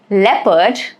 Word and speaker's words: leopard: Like examples of e o is people leopard.